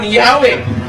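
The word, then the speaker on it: Yahweh: Ang sabio, "While inclining to view the pronunciation Yahwe as the more correct way, we have retained the form Jehovah because of people's familiarity with it since the 14th century."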